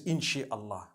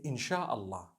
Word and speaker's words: Inshaallah: No one says inshi Allah. They say INSHAALLAH. That's what it is.